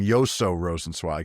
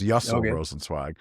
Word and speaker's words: Yaso Rosenwag: He calls him Yoso Rosenwag. His name is Yaso Rosenwag, but he quotes him.